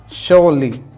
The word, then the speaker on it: surely: तो इसका जो आता है वो आता है शोली, शोली। जो प्रोनाउंसिएशन है वो है शो प्लस ली, शोली।